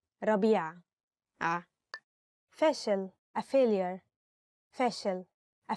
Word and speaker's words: ربيع: Maybe ربيع is difficult because of the ع, so say ربيع.